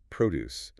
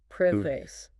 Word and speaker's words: produce: As the noun meaning the fruits and vegetables themselves, the stress is on the first syllable. Produce. Okay. But if you use it as a verb meaning to make or create something like this factory produces cars. Exactly. Then the stress shifts to the second syllable.